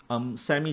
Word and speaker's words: SAMI: I know it rhymes with Mami, but I don't think they're very closely related, none at all. SAMI just stands for SAM Engineering and Equipment Malaysia Berhad.